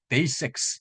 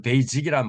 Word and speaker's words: basics: basics. 자, 이 발음이 S 발음이죠. 한국에서는 베이직이란 말 많이 얘기하는데 베이직이 아니라 basics가 되겠습니다.